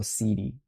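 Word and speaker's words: Siddi: The C is pronounced like a chi. Okay, I wasn't sure. Is he Italian? Francesco Cidi.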